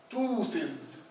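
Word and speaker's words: ptosis: مثال توسز توسز معناها تعلق او تدلي. توسز ما قلتش ابتوسز لا لانه البي سايلنت حسب القاعده توسز.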